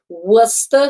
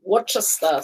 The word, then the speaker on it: Worcester: keep that in mind it is worcester sauce not worcester sauce there you go it